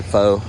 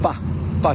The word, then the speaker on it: pho: But it's, a lot of people say pho or foo. It's actually pronounced pho because I asked a Vietnamese person. They say it's pronounced pho noodle.